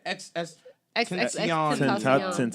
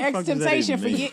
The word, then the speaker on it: XXXTentacion: You said XXXTentacion. I've been calling it X-Temptation for like a year now.